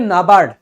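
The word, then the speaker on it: NABARD: आप जब भी ऐसे लिखा देखोगे आप इसको इसरो पढ़ते हो, आप पढ़ोगे नाबार्ड, national bank for agriculture and rural development, नाबार्ड पढ़ते हैं उसको।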